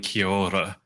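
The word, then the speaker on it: Kia ora: So Kior, it's sort of like a rolled R is how I'll describe the trick to pronouncing it.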